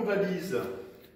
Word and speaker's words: valise: Et là, ne pas oublier le S bien sûr, un S parce que nous entendons le son Z.